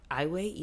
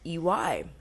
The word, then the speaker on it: Iwai: eway 45 okay now eway is spelled interesting I W AI now I think if like if I wasn't given the pronunciation I would have called it like iway eway I would have called it iway yeah yeah so it's ey um but yeah ey